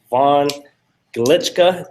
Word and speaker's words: Von Glitschka: We have the very talented Vaughn Glitschka. Did I pronounce that right, Vaughn?